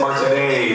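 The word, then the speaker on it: Martinet: Charles Martin Super Fan Henry Gilbert it is Martin the French pronunciation Al to remember that uh so I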